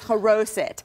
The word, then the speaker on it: Charoset: And one of them in particular that we're going to make today is Charoset. Ah, she got it. I learned. You got it. It's perfect pronunciation.